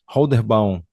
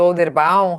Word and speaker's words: Holderbaum: Pronunciei certo seu nome? Holderbound? Seja bem-vindo. Então, só ativar o teu microfone. Tem, tá certinho. A gente tem várias formas de falar, mas é isso mesmo. Olderbound, Holderbound.